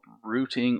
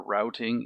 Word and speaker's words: routing: we do something called rooting or routing if we go with the American pronunciation these are going to